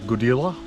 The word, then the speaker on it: Goodela: end of the uh godila walk i think it's pronounced goodila g-o-d-e-l-a um there is actually